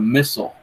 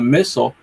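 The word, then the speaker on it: missal: a Bible it's not it's the missile I think it's spelled mi SS al and the missile it's like a gigantic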